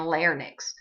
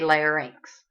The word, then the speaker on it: larynx: um commonly mispronounced words most people will say fairnicks and larnix well don't be one of those people because you don't have them you have a pharynx and a larynx all right so the